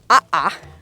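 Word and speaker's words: ʻaʻā: difference between the two is aha which is spelled a a I think it's a Hawaiian word aha is the rough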